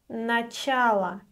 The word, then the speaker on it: начало: The next word is начало. Начало. Please remember that this word is neuter. It ends with O, but since it is unstressed, it is pronounced as Ы.